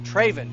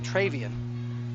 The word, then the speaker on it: Traven: the pile number 23 Tren morson traven excuse me traven morison I keep want to say travan so I apologize if